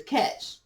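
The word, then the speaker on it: cache: your cookies right yeah we know that that word is catch but if you're just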